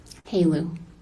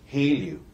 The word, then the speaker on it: HALEU: Actually, have you ever heard of the word Heleu? How do you say H-E-L-E-U? Haleu. Haleu.